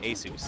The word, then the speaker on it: Asus: the Dome wall That's how much we appreciate Asus oh my God and it's pronounced Asus right not Asus Jesus Is Right